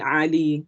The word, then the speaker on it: Ali: heard the word ali but ali is a arabic name but obviously because we can't pronounce the in at the beginning so it's actually ali so most people um would anglicize their name into ali to make it easier for us to pronounce so ali sort of comes from the back of the throat um the next letter